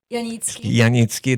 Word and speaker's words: Janicki: And today I have a special guest, Katherine, and last name Janicki, that's the way you pronounce it.